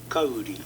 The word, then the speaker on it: Kauri: Is that the Maori pronunciation? Yes, that is the Maori... yes, correct.